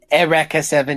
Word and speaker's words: Eureka 7: to when you guys I did watch Eureka 7 properly pronounced and Rekha Erica 7 yeah I feel fine honestly I feel fine calling it Eureka 7 is a show and